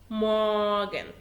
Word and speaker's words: Morgen: morgen. خد بالك ان حرف الام لازم يتكتب كبير زي ما انت شايف كده، لو اتكتب صغير هيبقى ليه معنى تاني في اللغة الألمانية هو غدا، لكن هو نفس النطق.